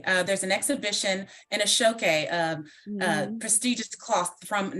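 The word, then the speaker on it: Aṣọ Òkè: the name of that show that I I butchered please aoke uh there's an exhibition in a shoke um uh prestigious cloth from Nigeria that will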